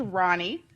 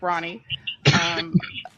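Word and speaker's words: Rani: So my name is Ronnie, R-A-N-I, pronounced like Ronnie.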